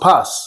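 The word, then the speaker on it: πᾶς: this word in Greek is pronounced pas.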